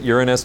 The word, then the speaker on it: Uranus: And yeah, we pronounce it Uranus to cut down on the jokes.